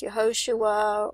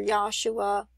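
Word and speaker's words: Yehoshua: it could be pronounced yahoshua or or yosua there's different ways to say it but it's the same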